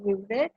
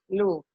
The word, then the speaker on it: Louvre: Louvre is in the French language, pronunciation is Louvre. In English, the pronunciation is Louvre.